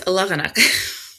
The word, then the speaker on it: Alaganak: And then they had a slide come up, and I was like, oh, that's because that's Alaganak. You were just saying it wrong.